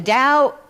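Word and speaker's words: Tao: It's spelled T AO. Um and the Dao, when I looked at it, I realized that sounds like love.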